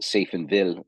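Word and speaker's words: Safenwil: It's pronounced Seifenville, but it's spelt Seifenwil.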